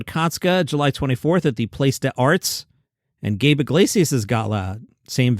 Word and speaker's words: Place des Arts: He'll be at the Place des Arts, which is how you pronounce it.